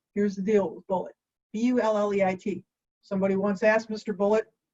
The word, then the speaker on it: Bulleit: Now, here's the deal with Bulleit, B-U-L-L-E-I-T. Somebody once asked Mr. Bulleit 100 years ago or so, how do you pronounce that? And he said, like the ammunition, son. Bulleit, not bully it.